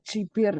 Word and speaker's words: Jabir: Dar Jabir jibir ya geber mungkin kalau kita eh bacanya kayak geber ya Ya tapi kalau bahasa Arab mungkin lebih ke jibir ya kemudian Eh dia